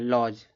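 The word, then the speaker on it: lodge: इसको देखो लॉज पढ़े जाएगा। लॉज देखो डी के बाद जी आया है। डी यहां पे 1 मिनट मिटा रहा हूं। डी के बाद जी है ना? इसको लॉज पढ़ेंगे।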